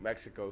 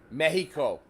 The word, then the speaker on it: Mexico: Mexico. I just had to say it. Okay. Okay. Mexico. It's cool to be able to pronounce an X like an H.